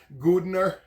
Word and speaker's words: Godenna: Now, I know some people pronounce it as cottony or something to that effect that's in Italian, and I'm not really sure. I grew up eating Godenna, and that's how we called it.